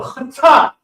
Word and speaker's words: chaatah: to throw, but this is the cha, so chata.